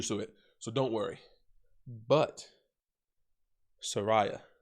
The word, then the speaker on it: Saraya: so don't worry but soraya or saraya sarai whatever you want to pronounce it i'm from the hood i pronounce it soraya uh but sorry whatever